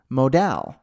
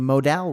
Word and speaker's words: modal: specific thing we're gonna code I used to pronounce it funny so I used to call it Modell's like a modal window it just seemed more romantic it seemed